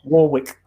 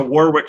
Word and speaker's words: Warwick: Yeah, and that's why they have problems with things like Warwick, which has got a W. Warwick. Yes, there is a Warwick Street in the city that I live in, and people do pronounce it Warwick.